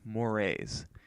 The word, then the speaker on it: mores: Now, let's talk about mores. I know it looks like moors, but it's actually pronounced mores.